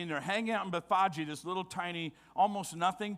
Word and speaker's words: Bethphage: If you were reading it in English, it'd be Bethphage. That's how we would pronounce it. But Bethphage is the way you would say it.